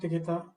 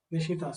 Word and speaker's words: Nishita: Thank you so much, Nikita, for hosting this. Thank you, And sir. Nishita, sorry.